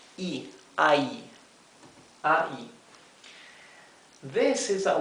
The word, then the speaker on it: y: this IG is pronounced e i i this is a word by itself means the end right A and D the the conjunctive word end this is pronounced e simply e that's all that's the word also